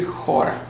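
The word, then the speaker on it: χώρα: Chora, how do you pronounce it? In Greek that would be chora.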